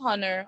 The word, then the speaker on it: honor: Our, honest, honor, honorable, and heir should not be pronounced with an H.